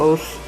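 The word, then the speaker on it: osu!: It's called Os, or Osu as you would read it, but yeah, that's the correct way to say it. It's Os. And what it is, it's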